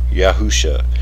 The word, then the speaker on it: Yahusha: name of the Messiah, which is pronounced Yahusha, with the proper vowel points added.